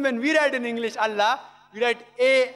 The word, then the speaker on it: Allah: it's their language similarly we know how to pronounce correctly allah they say allah these are no problem the right pronouncer is allah later on when reverend